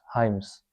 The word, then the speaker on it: hymns: मिलेगा यहाँ पे हाइम, HYMNS, हाइम्स, एन इसमें साइलेंट होगा, हाइम।